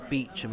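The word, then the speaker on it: Beauchamp: Amy Amy bamp um technically supposed to pronounce it beachum apparently cuz uh it's not a French name so she says but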